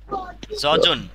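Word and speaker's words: 젖은: জজন। এখন উচ্চারণ হবে কি? জজন। এই জিওটা ইয়ং এর এখানে গিয়ে জ উচ্চারণ হবে।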